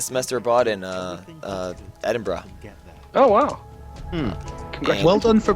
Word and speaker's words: Edinburgh: I did a semester bought in uh uh Edinburgh oh wow well done for pronouncing Edinburgh correctly and being North American wow and being